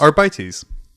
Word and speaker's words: Arbites: Arbites. That was I was like, oh, that's how that's pronounced.